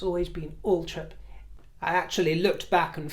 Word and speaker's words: Althorp: It's Althorp. It's always been Althorp.